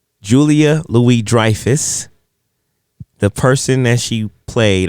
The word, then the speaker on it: Julia Louis-Dreyfus: Julia Louis-Dreyfus.